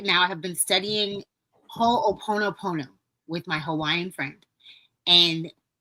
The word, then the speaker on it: Ho'oponopono: And can you pronounce it again for us? Ho'oponopono.